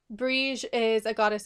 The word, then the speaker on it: Brighid: before and I say breeze bridge is the Irish pronunciation of her name bridge and I'll get